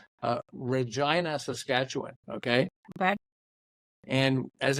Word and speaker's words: Regina: know what it was Regina it rhymes with fun that's great okay yeah